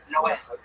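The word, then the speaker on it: Noé: Like in the Bible, the Spanish translation, it's Noe is Noah, but it's pronounced Noe.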